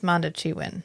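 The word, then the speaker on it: Mondoshawan: Monteshuan. Montechuan? It's not they- pronounced the way it's spelled. No, because Yeah. in the subtitles it's SHA. Yeah. But it's Montechuan. Yeah.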